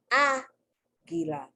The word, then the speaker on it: águila: So the accent is on the first A, right? Now, according to the rule of the language, because it's 3 syllables, the accent should have been on gi, gi, gi, gi. But that's not how, you don't say aguila, you say aguila.